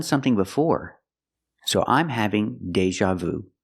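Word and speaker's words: déjà vu: before so I'm having Deja Vu pronunciation Deja use the long a like play and say day Deja use the z sound like an usual Deja Deja Vu I'm having Deja Vu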